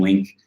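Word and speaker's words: LingQ: beginner level courses on Link, and I find that very useful as well. And that's Link with a GQ. It's spelled really strange. L-I-N-G-Q, not L-I-N-K.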